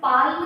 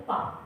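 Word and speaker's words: palm: होता क्या होता है काम एल काम डाउन जैसे पाम पी ए एल एम होती है लेकिन हम क्या करते हैं इसम पाल्म नहीं बोलते क्या बोलते हैं पाम ठीक है तो इसी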